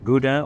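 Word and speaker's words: Gouda: northern Europe you're talking about ybur uh emmenthaler GDA or Howa that's how they pronounce it uh in NE is cheeses these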